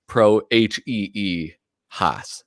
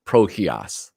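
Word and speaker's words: Prohías: He goes, "Oh, and by the way, he spelt it phonetically, so like Prohee Haas, so Prohias. So it's Prohias.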